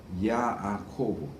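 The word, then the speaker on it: יעקב: 두 개의 표현을 취합해서 야아코브, 이제 우리는 야곱 이렇게 그냥 하지만 히브리 표현으로 하면 발음으로 하면 야아코브입니다.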